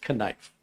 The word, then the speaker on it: knife: And Patrick says, knife is pronounced knife. Just like knucklehead.